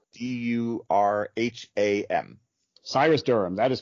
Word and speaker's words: Syrus Durham: to search for you on amazon your name is spelled s-y-r-u-s correct d-u-r-h-a-m cyrus durham that is correct yeah so uh i i